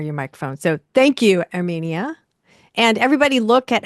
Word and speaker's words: Herminia: The H is silent. And something you may not know is that in Spanish all the vowels sound the same. A, E, E, O, U. So my name has three vowels.